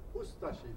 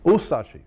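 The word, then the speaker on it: Ustaše: We pronounce it Ustashi. We pronounce the U and de-emphasize the Ashi. Ustashi.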